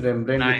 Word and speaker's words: Rembrandt: It is Rembrandt with a silent D.